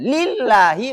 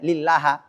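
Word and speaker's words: لِلَّهِ: Nah, lillahi berarti kalau li di sini masuknya huruf jar kata Allah harus kasrah lillahi enggak boleh lillaha enggak boleh lillahu.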